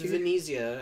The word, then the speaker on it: Venezia: It's pronounced Venice! You freaking moron! I'm sorry, it's Venezia, actually.